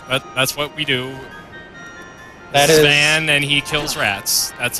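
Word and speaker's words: Vaan: name is V but that's that's an archaic pronunciation so we're going to call him we're going to call him uh van throughout this three more right and game in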